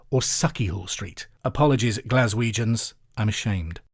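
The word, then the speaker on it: Sauchiehall: week I talked about SOI Hall Street in Glasgow thank you to Jilly Shephard and Craig Murray who've both been in touch to point out it's pronounced saky Hall Street or saky Hall Street apologies glaswegians I'm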